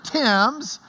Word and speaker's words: Thames: of the River Thames, spelled Thames because in England they don't know how to spell. But this is the River Thames, as we would spell it in Lubbock.